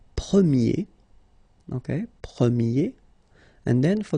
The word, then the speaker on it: premier: And then the sound will change quite much, because if you think about the masculine form, you pronounce it premier, okay?